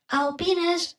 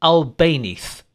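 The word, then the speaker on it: Albéniz: Classical composer Isaac Albanese, Clow. Albanese. Do you understand? Classical composer Isaac Albines. Pronunciation updated to Albanese.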